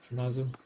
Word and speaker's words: Shimazu: Shimatsu or Shimazu? Is it like you don't pronounce like a T in there? Cuz I don't think there's a T in it. But Shimazu.